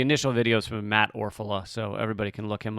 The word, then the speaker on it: Orfalea: Orfalea, even though it's pronounced Orfala.